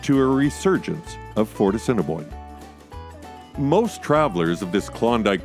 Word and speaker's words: Assiniboine: It's actually pronounced Assiniboine.